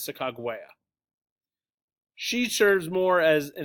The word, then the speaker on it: Sacagawea: wife Sacagawea yes probably no Sacagawea the proper pronunciation is SiC agua she serves more as